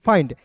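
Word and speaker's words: find: जब भी किसी भी वर्ड्स के अंतिम में आई एन डी दिखेगा तो उसका उच्चारण आइंड के रूप में करेंगे। हो जाएगा एफ आई एन डी फाइंड।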